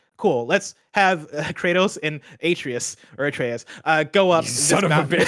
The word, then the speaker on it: Atreus: I was just gonna leave it there, but I have to let people know I do know his name is pronounced Atreus.